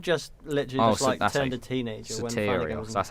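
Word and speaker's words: Sotirios: Soterios, that's how you say his name.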